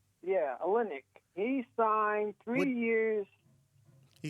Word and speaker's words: Olynyk: are but a team kelly i can't even pronounce this name o l y n ny you mean kelly olynyk yeah olynyk he signed three years he signed with detroit